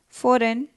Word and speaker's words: foreign: Foreign, G.